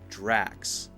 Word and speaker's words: Drax: heard some people say dress dress just an S sounds not correct before that s sound you have to have the K sound it's just like the